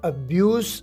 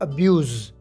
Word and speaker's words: abuse: noun है एब्यूज एब्यूज याद रखें की इसके नाउन को आपने एब्यूज प्रोनाउंस करना है और वर्ब को एब्यूज वर्ब एब्यूज और नाउन एब्यूज एब्यूज एब्यूज की मीनिंग